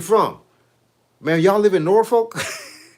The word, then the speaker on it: Norfolk: Like people say people say Norfolk. Nor folk. We call it Norolk.